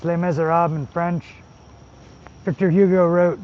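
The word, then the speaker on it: Les Misérables: really good story it's spelled Les Mes it's pronounced Le mesab in French Victor Hugo wrote The Hunchback of Notre down and uh L miserab is just a beautiful story Hugh Jackman's in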